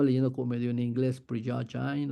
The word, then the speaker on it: Prigogine: Entonces seguimos con esta idea del universo como un acto creativo y hubo un científico maravilloso, Ilya Prigogine, no sé cómo se pronuncia realmente, yo creo que él es como de Europa Oriental.